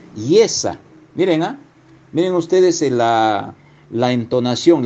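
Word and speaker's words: ישע: En las raíces hebreas, el término salvación se pronuncia yesa. Miren, miren ustedes la entonación, la fonética, yesa.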